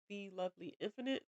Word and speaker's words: The Lovely Infinite: That is The Lovely Infinite. That's how you say it. I know it's TheLvly Infinite, Infinite. But I've had some people be like the infinite, and it's like lovely. It's just the word lovely without the vowels.